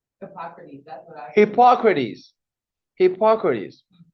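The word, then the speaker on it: Hippocrates: Hypocrites how do you say his name H Hypocrites that's what I Hypocrites Hypocrites so he wasn't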